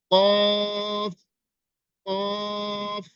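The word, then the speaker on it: ق: কিন্তু একটা হচ্ছে চিকন, একটি হচ্ছে মোটা। একটা মোটা করে উচ্চারণ করতে হবে, আর একটি চিকন করে উচ্চারণ করতে হবে, কিন্তু আমরা সেটা করি না।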